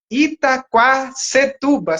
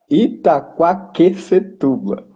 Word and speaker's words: Itaquaquecetuba: Itaquacetuba. Acertei? Errado. Errado. Qual é o nome? Então eu anotei errado aqui. É Fala aí para nós. Ita... Itaquaquecetuba. Itaquaquecetuba. Ah, sim, agora sim.